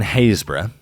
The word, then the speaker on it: Happisburgh: Here in Haysborough, yes, that is how it's pronounced, I know, I'm sorry.